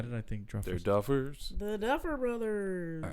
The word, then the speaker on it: Duffers: Did I say the Druffers? No, you said it right. I thought just think it's a Druffers. funny name. Why did I think Druffers? They're Duffers.